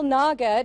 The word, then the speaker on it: Nagar: details yes so it's s Naga to rhyme with ler if that helps us